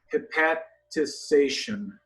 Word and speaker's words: hepatization: So, hepatization. I usually say it with too many syllables.